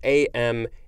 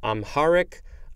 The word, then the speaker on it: Amharic: it is spelled capital a-m-h-a-r-i-c it looks like it can be pronounced a couple of other ways too uh amharic amherst something like that this is a noun